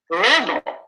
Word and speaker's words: global: stress pattern of global global is it a or b wow you guys are good Global 100% that's right it's dat dat Global right the first syllable is stressed more than the second syllable so now what's let's